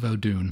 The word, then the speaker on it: Vodun: Yeah, I think Vodun, and then it becomes Voodoo when you get to New Orleans.